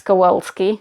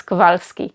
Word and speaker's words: Kowalski: was Marlon Brando ass Kowalski I can't say the name Kowalski ass Kowalski I always say it as kovarsky it's a publisher name